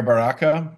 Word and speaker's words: Baraka: the hearing senator um mayor baraka have i pronounced your name correctly yeah yes thank you senator yes great